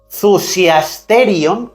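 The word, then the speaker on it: θυσιαστήριον: La palabra altar en la concordancia strong griega es el numerito 2379, la palabrita 2379 que se pronuncia en griego zusiasterion.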